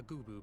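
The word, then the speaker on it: Goobbue: there was an incident at a parade a goooo broke free of its Fetters and ran a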